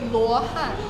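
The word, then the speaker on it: 罗汉: And is it in Chinese, is it pronounced exactly like that, Lohan? So it's actually Luohan. Lohan. Luohan.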